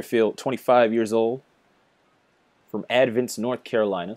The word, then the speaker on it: Advance: 25 years old from advents north carolina spelt like advance but the stressed syllable is in a different place two seamer low in